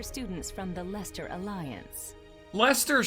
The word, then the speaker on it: Leicester: from the leicester alliance lester's shoulders still does not look like it should be spelled like that it should be lychester we could wrongs for